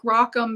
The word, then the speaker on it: Rockham: And the thing is he explained to us that he was a rockin', which is R-O-C-K, and like U-M, like Rockham is how it's pronounced.